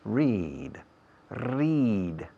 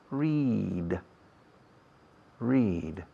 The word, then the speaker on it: read: Fijaos en la pronunciación. Read, read. Y como si fuera una serie larga de las Is Latina. Read, read.